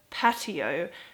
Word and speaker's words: patio: pronunciation is the word patio um I think it's unexpected because there's words like ratio which literally only have one letter difference but it's pronounced completely different um I think a